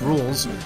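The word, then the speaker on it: Rouxls: him off and uh ralks here is saying that his name is pronounced rules which i don't care about because his name is clearly raulx you must construct more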